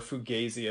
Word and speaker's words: Fugazi: of like clutch and Fugazi in there or Fugazi I should say I think is the correct pronunciation and and also there's